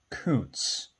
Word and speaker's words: Kuntz: Just in case you were wondering, it's pronounced Koontz.